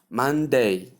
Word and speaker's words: Monday: This is after mo sound in Monday. The sound that comes in the middle is silent or sound before you get the n sound. So that's the sound I'm talking about. You call it together as man, man. Then you come to day, day.